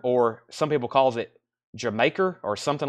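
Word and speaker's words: D'yer Mak'er: Raised on Radio Don't Stop Believing lead Zeppelin dire maker or some people calls it jamaer or something like that I call it dire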